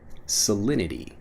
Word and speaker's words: salinity: the conversation next salinity salinity when I'm pronouncing it fast salinity even though again we have that T sound salinity becomes salinity when we're pronouncing it quickly what's the salinity of